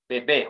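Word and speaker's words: bébé: Bebe. Why? Why bebe? If someone asks you why not babe? It has acute accent.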